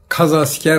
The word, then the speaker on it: kazasker: Anadolu Kadı askeri oldu Kazasker oldu yani Kadı asker kaz asker diyoruz biz şimdi datla yazıldığı için o z okunur Ama kur'an-ı Kerim'deki dartlar